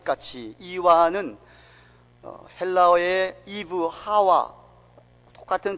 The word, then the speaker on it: 하와: 뱀이 그 간계로 이와를 미혹해 한 것 같이, 이와는 헬라어의 이브, 하와 똑같은 발음을 그렇게 우리말 번역을 이와로 한 겁니다. 사실 거기 강한 액센트가 있어서 하와라고 발음해야 정확한 발음이에요.